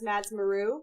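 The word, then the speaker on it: madsmaru: also find me on twitter or instagram as madsmaroo that's spelled m-a-d-s-m-a-r-u um i really enjoyed this panel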